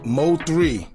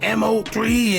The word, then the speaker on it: Mo3: Everybody all in the comments, why you keep saying MO3 and his name is Mo 3. I finally got it. All right, so y'all can stop with the comments. But anyway, Mo3's manager, Rainwater, he finally